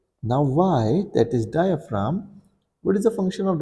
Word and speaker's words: diaphragm: our lungs now what is y y is pronounced as diaphragm and the spelling for it is d i